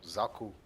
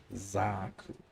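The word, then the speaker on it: Xaku: Oh, Zaku. Zaku. Thank you. Pronounce the X as a Z and done. Zaku.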